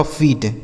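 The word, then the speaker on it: feet: F double E टी, यप से हो गया दोस्तों फ, इस डबल ई का उच्चारण बड़ी की मात्रा टी से ट, ये लिखा गया आपका फीट, क्या लिखा है फीट, ठीक है ना।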